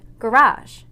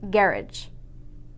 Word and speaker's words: garage: both countries use English some of the word stress varies making those words sound completely different for example this word is pronounced garage in America but in England it's pronounced garage in module 1 we